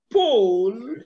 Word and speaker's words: pool: thank you very much i want you to understand that these words are not homophones pool is not a homophone to pull sheep is not a homophone to ship god is not a homophone to cut while these ones are long these are shot and your pronunciation must indicate that okay all right my